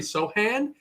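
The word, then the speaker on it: Sochan: tough break on uh Jeremy Sohan that's how you pronounce it because he's from the villages in Southeast Asia and man he gets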